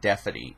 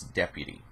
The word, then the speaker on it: deputy: mispronouncing words I'm like you just said Deputy wrong it's not defy it's Deputy that's what my father